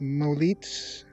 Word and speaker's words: m0l33t: uh cube edit and chat with molite i guess is how you say his name because it's mo m0l33t so chat with him